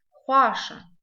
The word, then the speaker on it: Хуаша: Хуаша, новый для нас звук, звук хо. Хо. Пишется звук хо как х, в.